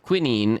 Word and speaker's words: quinine: So quinine is pronounced quinine if you didn't know.